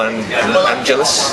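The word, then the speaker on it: Angelis: Jeffrey Hughes, Peter Batten, Paul Angelus. Is that how you pronounce it? Paul Angelus, yes.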